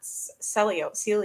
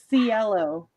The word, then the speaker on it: Cielo: It's not Celio. No. Cielo, like sea CLO.